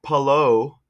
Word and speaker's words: Palou: Um, but you would say pa. Like you say pa. That's it. And low. Just saying. Hello. Hello. Perfect. You got it. Okay. It's Alex Palo.